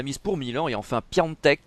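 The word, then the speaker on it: Piątek: pour milan et enfin pianoteq qu'il faut prononcer comme ça je crois plus en teck qui seul face au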